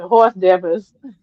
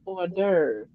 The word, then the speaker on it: hors d'oeuvre: We was reading something in the classroom, and I said horse devils. right. Horse divers, horse diver. Mhm. And the teacher said, "Oh no, no, Kim, that's a French word. It's pronounced hors d'oeuvre."